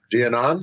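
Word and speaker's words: Giannone: Giannon.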